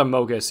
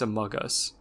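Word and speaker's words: amogus: no i mean like it's pronounced among us just without the n it's not a mogus it's a mug us i know it sounds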